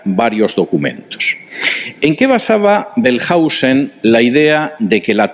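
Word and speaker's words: Wellhausen: A finales del siglo XIX, un alemán que se llamaba Julius Belhausen, vamos a intentar escribir esto. Julius Pelhausen, la W en alemán se pronuncia como V fuerte, no como U. Julius Belhausen escribió un libro en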